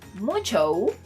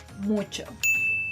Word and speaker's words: mucho: Remember that in Spanish, you should never elongate letter O, especially when it appears at the end of words. So if you're thinking that this word is pronounced mucho, I'm sorry to tell you, but you're wrong.